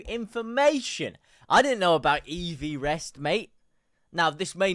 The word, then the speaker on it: Everest: 28,000 feet EV rest. That's proper pronunciation. EV rest is in Mount Everest. That's proper pronunciation because they named it after the guy who first measured it.